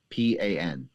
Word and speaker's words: Lo Pan: Lopan.